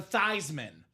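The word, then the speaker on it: Theismann: We got to change the name, the pronunciation of your last name from Theman to Thyman."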